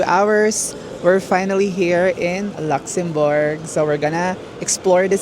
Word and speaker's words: Luxembourg: Pia ka banda bag nandito kami ngayon sa tram top ng Luxemburg. Yun daw iyung correct pronunciation.